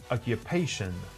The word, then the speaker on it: occupation: form occupancy occupancy and job or profession occupation with a stress shift occupation thank you this was